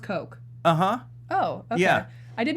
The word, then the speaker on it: Koch: Koch industry coke coke coke industries yeah it's pronounced coke uh-huh oh yeah I did not know that